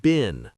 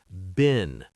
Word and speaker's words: been: Yes, bin sounds like been, like a trash bin. Short sound been.